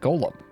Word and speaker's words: Golem: is GTM CMG OLM he asked to be referred to by the last bit which is of course golem orgy olive which to his surprise this ends up being pronounced like Gollum anyway on a sidenote